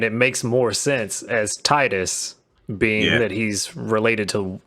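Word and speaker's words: Tidus: any further listeners viewers did you know it's not pronounced Titus it's Titus yeah I know probably some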